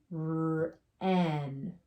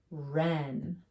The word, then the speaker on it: wren: So W is silent, ghost letter. Go right to the R.